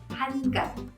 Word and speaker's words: 한강: 그래서 한강 역시도 혀가 천장에 닿는다는 걸 기억해 두세요.